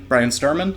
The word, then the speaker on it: Bryan Sturman: drifter from the pacific northwest we have brian brian sturman that's how you pronounce it uh thank you for coming in